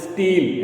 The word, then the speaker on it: stele: S-T-E-L-E pronunciation is same, but the spelling is different.